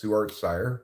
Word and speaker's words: ssuartscire: How do you pronounce ssuartscire? I pronounce it ssuartscire. It's just my name backwards.